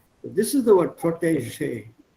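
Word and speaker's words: protégé: It's a French word, so pronounce that je, P-R-O-T-E-G-E. E with an accent, G, E again with an accent. Protege. What accent liegt auf der ersten Silbe? Protege, not protege.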